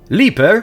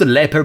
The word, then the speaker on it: Leaper: Leaper, which is pronounced leper, but I got used